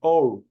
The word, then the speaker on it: hour: que no se pronuncia, una H que sea muda, como el caso de nuestra H, que no sea aspirada, que no se transforme en J. Por ejemplo, see you in an hour.